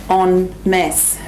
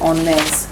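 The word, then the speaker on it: en masse: it's the way you say it is you pronounce it on mass yeah yeah so that would be we would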